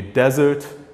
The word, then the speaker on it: desert: Okay, so with one S, it would be desert. With two S's, it's pronounced dessert.